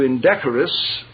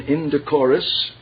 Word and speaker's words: indecorous: get carried away into indecorous second pronunciation IND decorus either are correct though indecorous is listed as the first i n d c